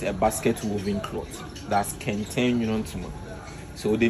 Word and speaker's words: Kente: Can we pronounce that Kente? Kente.